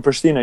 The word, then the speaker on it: Pristina: Pronounce it? Is it Pristina? Was it from Pristina or from Germany? No, from Pristina, you're right.